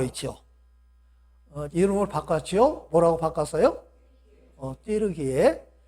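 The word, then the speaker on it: Türkiye: 띠르기에. 근데 이 터키라고 하는 말은 영어식 발음인데 칠면조, 겁쟁이라고 하는 그런 뜻이 있어요. 그러니까 이 터키 사람들은 얼마나 그 말을 수치스럽게 생각을 했겠어요. 근데 원래 이름은 띠르기에, 용감한 사람들의 땅이라고 하는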